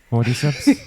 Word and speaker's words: Cordyceps: because I'm never going to remember how to pronounce the It's not chromosomes, it's not chromodoids, it's not cordiseps. Cortiseps.